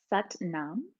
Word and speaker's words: Sat Nam: And uh the most common mantra in kundalini yoga is sat nam sut nam. And it rhymes with coincidentally but mom. So it's sut nam but mom.